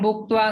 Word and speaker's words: भुक्त्वा: तेतं भुक्त्वा स्वर्गलोकं विशालं क्षीणे पुण्ये मर्त्यलोकं विशन्ति एवं त्रयी धर्ममनुप्रपन्ना गतागतं काम कामा लभन्ते।